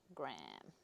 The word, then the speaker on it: Graham: Yeah, they are spelt Graham, but you guys pronounce them Graham.